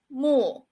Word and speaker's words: 木: It pronounced as mu.